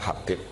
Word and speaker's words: Habib: Itu di harokatnya kitab itu ada yang nulis Hubab. Yang benar, oh enggak, yang benar itu bacanya Habib.